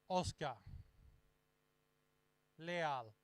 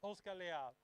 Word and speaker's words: Oscar Leal: And the next skier is going to be Oscar Leal. I was pronouncing a bit um yeah in a different way and then they correct me. So it's Oscar layout and let's see in